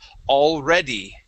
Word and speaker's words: already: So, for example, the word already. Already. Good, yeah. So sometimes I've noticed for those who speak Portuguese, sometimes it's a little difficult to include that E sound at the end of a word.